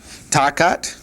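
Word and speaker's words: תחת: Our word under is takat. The accent right there.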